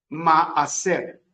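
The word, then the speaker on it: מעשר: Y la palabra diezmo se escribe en hebreo maaser.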